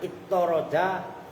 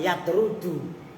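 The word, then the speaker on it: يطّرد: Tasdid toknya ittoroda, bukan yatrudu.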